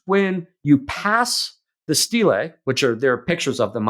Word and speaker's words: stele: And I should use Stele, not Stella. Sorry. Is it? That's me. Is it Stele, not It's Stella? Stele. Yeah. Okay, so that's me mispronouncing it.